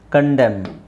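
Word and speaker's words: condemn: ಕಾಲಂ ಕಾಲಂ ಇದು ಸೋಲಮ್ ಸೋಲೆಂ ಇದು ಡ್ಯಾಮ್ ಡ್ಯಾಮ್ ಕಂಡೆಮ್ ಕಂಡೆಮ್ okay so ಯಾಕೆ ಸೈಲೆಂಟ್ ಲೆಟರ್ಸ್ ದು ಅವಶ್ಯಕತೆ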